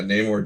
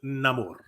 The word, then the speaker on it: Namor: Latino a Latino character his name is Namor with a rolled R and everything yeah they